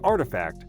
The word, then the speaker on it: RTFKT: culture and gaming founded in january 2020 rftkt pronounced as artifact sells digital items like sneakers in the form of nfts while announcing the deal that month nike ceo john donahoe had called the acquisition of artifact as another step to serve athletes and creators